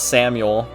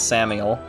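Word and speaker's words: Samael: things uh Samuel uh it is not Samuel because there's no u in there it's a e it's Samuel or Sam I don't know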